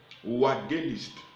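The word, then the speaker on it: εὐαγγελιστής: Troisième mot grec, wagéliste. Wagéliste. Wagéliste. Et nous finissons par là, c'est juste une minute. Wagéliste. Ça s'écrit E-U-A-2-G-E-L-I-S-T-E-S.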